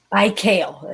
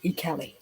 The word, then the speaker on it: Ikeli: Ikale, it looks like, but it's pronounced Ikeli.